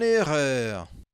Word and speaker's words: erreur: Je me suis rendu compte de mon erreur. Muito bem. Essa pronúncia aqui no final, ó, erreur, erreur, erreur, erreur.